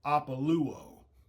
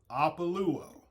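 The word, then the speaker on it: ἀπολύω: And that is Strong's Concordance, number 630 in the Greek, and it's pronounced APOLUO. APOLUO.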